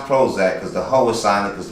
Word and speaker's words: ProHoeZak: velcro holds that but it's pronounced Prozac because the whole assignment